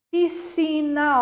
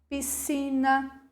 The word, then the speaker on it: piscina: isso é um dígrafo piscina Ó piscina um som apenas o SC representa excesso